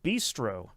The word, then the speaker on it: Beastro: Reminder: this is called Bistro. It's spelled Beastro.